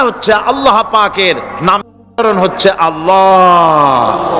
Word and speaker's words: আল্লাহ: আল্লাহ পাকের নামকরণ হচ্ছে আল্লাহ মুখটা একটু গোল হয়ে যাবে বলেন আল্লাহ আল্লাহ সুবহানাল্লাহ পৃথিবীতে বিভিন্ন